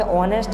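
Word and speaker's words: honest: तो यहाँ पर आप क्या भरेंगे, ऑनेस्ट में जो है आ स्वर से उच्चारण होता है, इसलिए आप एन आर्टिकल भरेंगे, एन इसका राइट आंसर होगा।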